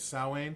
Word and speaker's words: Samhain: Samhain? It's called Samhain. Samhain is like the original, but like some people also pronounce it Samhain.